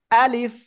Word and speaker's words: আলিফ: আলিফ অক্ষরটা মুখের খালি জায়গা থেকে উচ্চারণ হবে। কোন জায়গা থেকে? মুখের খালি জায়গা থেকে। আর আলিফ অক্ষরে কোনো টেনে পড়া যাবে না, কোনো টেনে পড়া যাবে না, এভাবে পড়বেন। এই যে আমার দিকে, আমার দিকে, আমার দিকে।